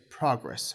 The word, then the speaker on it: progress: a little bit special when it's a noun it's progress with stress on the first syllable but when it's a